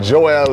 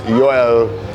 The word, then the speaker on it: Joel: That's how you say it, Joel in the US, Joel in Cuba and other Latin countries.